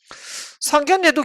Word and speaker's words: 상견례: 만 발음이 때이기 때문에 이게 에로 발음이 되면 안되고 예로 발음이 돼야 됩니다 상견례 예 없기 때문에